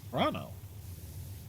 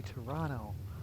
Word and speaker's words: Toronto: Toronto. Yeah. You don't pronounce the second T.